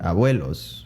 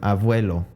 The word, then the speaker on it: abuelo: them avuelo and abuela now if you hear that correctly a vuelo i would pronounce it with a v avuelo avuela but the word abuelo has a b in it not a v a v as in the name victor it doesn't have a v it had a